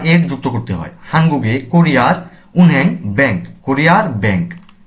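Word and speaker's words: 한국의: bank হাঙ্গুক Korea weep আর্টিকেলটি শব্দের সাথে যুক্ত হলে এর উচ্চারণ হয় এ এবং বাংলা অর্থে র বা এর যুক্ত করতে হয় হাঙ্গুগে কোরিয়ার উনহ্যাং ব্যাংক কোরিয়ার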